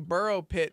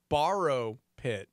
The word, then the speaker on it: borrow pit: I'm saying burrow pit, but that's spelled borrow pit.